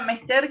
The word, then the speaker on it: mester: Vieron que la palabra mester, que no es muy común, en realidad es aguda, es decir, no tiene tilde, y en realidad se pronuncia mester. Nosotros tenemos la inclinación a hacer la acentuación en la penúltima sílaba, porque la mayoría de